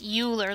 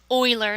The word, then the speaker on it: Euler: Euler's number this is not pronounced Euler like a ruler with an E it's pronounced Euler like the football team is named after Leonard